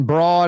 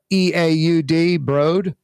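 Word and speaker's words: Breaud: This woman, Ann Broad, I guess, Broad, B-R-E-A-U-D, Broad, bro, silent D, like Django, the D is silent.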